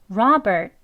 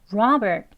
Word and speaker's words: Robert: 아주 약하게라고 해 주시고요이 이름 하나만 발음을 할 때는 끝소리 약하게 소리를 넣지만 대화 속에서는 Robert 이렇게 트 소리까지 넣어서 발음하지 않고요 대부분은 이렇게 으 하는 소리로 끝나 듯이 Robert Robert 이렇게 발음이 됩니다 그것도 알고 계시고요 다음은